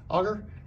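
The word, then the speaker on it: agar: So what we have here is a little petri dish, and inside here, I think I'm pronouncing this right, it's called what? Auger?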